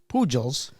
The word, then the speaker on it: Pujols: 25 years ago, Eduardo Antonio Fernandez Pujols. Pujols? Pujol. Pujol? The J is an H, bro.